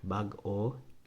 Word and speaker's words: bago: And then bago has that hyphenated syllable there, so you have to have that carryover space. Bago, bagong tuig. That little kind of short stop, glottal stop, whatever y'all want to call it.